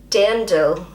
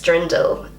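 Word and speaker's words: Dirndl: that right d so as a native English speaker I am looking at how it's written and and I just automatically pronounce it as drindel it's so wrong d d dandel Dand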